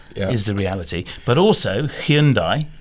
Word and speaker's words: Hyundai: But also, Hyundai, is that how you say it? It always was Hyundai, wasn't it? Hyundai. We've all been corrected thanks to that TV ad.